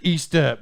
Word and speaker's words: Estep: three things I didn't it's actually East up you need to pronunciate